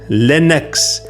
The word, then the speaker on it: Linux: Linux. Linux. Short I like the word pin, not Linux.